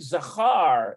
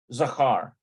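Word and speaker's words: זכר: feminine and then uh I think zahar is the word for masculine zachar yeah yeah zachar so you notice this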